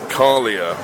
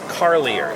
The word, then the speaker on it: Carlier: Carlier. Carlier. Carlier. Well, okay. I think it's supposed to be pronounced Carlier because it's French, but I'm British, so I changed it.